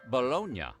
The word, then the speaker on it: Bologna: But in Italy, that city is pronounced Bolognia.